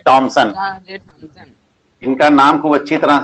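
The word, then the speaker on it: Thomson: ठीक है, जे थॉमसन या जे टॉमसन, क्योंकि अंग्रेजी में थॉमसन ही लिखा जाता है लेकिन उसका उच्चारण टॉमसन किया जाता है, एच साइलेंट रहता है उसमें।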